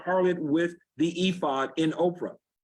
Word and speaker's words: Ophrah: Israel played the harlot with the ephod in Ophrah. Not Oprah, Ophrah. Okay. Actually, that's where Oprah's name came from, and her family mispronounced and spelled it wrong.